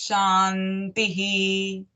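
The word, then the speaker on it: शान्तिः: Shantis, Shantis, Shantihi. Okay. And the last visarga becomes ha.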